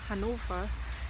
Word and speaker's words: Hannover: I'm on my way to Hanover again, Hannover in German, if you want to learn German and the correct pronunciation of cities and stuff.